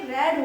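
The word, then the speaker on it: read: तो देखो यहां पे रेड की स्पेलिंग नहीं बदली है लेकिन प्रोनंसिएशन आपका बदल गया है और ये रेड हो गया है है ना आई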